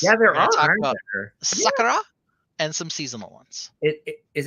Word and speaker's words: Sakura: So I have always said Sakura because that is how she told us to pronounce her name.